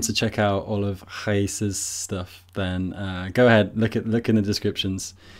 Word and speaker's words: Raíssa: Raíssa. Is. Okay. Yes. So it's not like the British racer. No. Here in Brazil, the R on the yes, like it sounds like H, right?